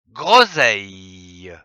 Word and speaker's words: groseille: S e I l ze l e s le que l'on prononce grosille.